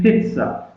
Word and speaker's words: pizza: So it is s. Don't say z. So it is pizza.